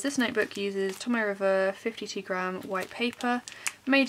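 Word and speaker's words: Tomoe River: packaging so these are tommy river journal inserts i think that's how it's said i've heard it been said a few different ways but i'm pretty sure it's tomo river it also came with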